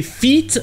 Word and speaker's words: feet: Fête avec un I a le son E, le son du I en anglais, et feet avec deux E a le son I, un peu comme le I en français.